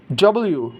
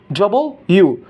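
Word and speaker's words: W: American accent উচ্চারণ করবে তখন কিন্তু ওরা রটা উচ্চারণ করবে। দেন এস, টি, ইউ, ভি, ডব্লিউ। আমরা অনেকে বাংলায় যারা আছি, বাঙালি যারা, এরা আমরা স্কুল কলেজে ভুলভাল শিখি যে ডাব্লিউ, নো ডাব্লিউ না, ডব্লিউ, ডবল ইউ।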